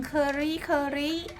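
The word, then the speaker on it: Kerikeri: เกาะ เหนือ นะ คะ เมือง เคอรี่ เคอรี่ คือ รี่ เครี่ เคอรี่ เคอรี่ ประมาณ นี้ นะ คะ ไม่ มัน จะ V อ่าน ออก เสียง ถูก หรือ เปล่า k e r i k e r นะ คะ เคอรี่ เคอรี่ เนาะ อาร์ม มี โรง งาน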